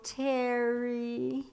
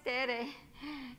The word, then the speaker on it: Tere: And she say, "Oh, Terry." And I say, "No, it's Tere." She said, "No, it's Terry." I say, "No, it's Tere." And she say, "It's pronounced Terry." It's pronounced Tere. Watch my mouth.